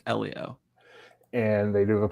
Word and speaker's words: Elio: I want to say Ilio like Alio Estz but I think it's Elio.